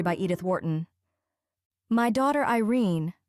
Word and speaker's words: Irene: My daughter Irene, said Mrs. Carstyle, she made it rhyme with tureen, has had no social advantages, but if Mr.